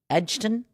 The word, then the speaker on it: Edgerton: Good play by, good bid by Edgerton. Is that how you say his name? Yeah. Edgerton?